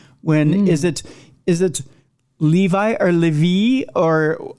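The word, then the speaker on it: Lévi: evil the intent when is it is it Levi or levie or how do you pronounce the man's name who first came up with the symbol Levy Levy Levy it was LE it would be the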